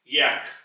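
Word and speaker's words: Jacke: योगा ही कहते हैं और जर्मन जबान में याक याक अंग्रेजी में यक तो आप यहां आ का जो फर्क है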